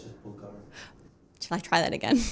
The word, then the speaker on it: Bulgari: It's just Bulgari. Shall I try that again? Live Nation, the BBC, Bulgari. I don't know how to say that. Bulgari.